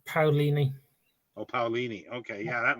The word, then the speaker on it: Paolini: I think it's pronounced Paolini.